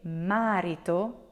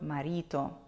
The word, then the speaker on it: marito: example fits perfectly because in English 90 of the words have an accent that falls on the first syllable so that's why it's very common for English speakers to want to say marito instead of marito let's try with another